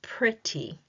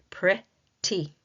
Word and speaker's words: pretty: We're using the actual graphemes to spell that word, pretty. We break it down into 2 syllables. Each syllable must contain a vowel sound. Pretty. Pretty. Okay? So we have a 2-syllable word, a 2-syllable adjective, because it is describing something.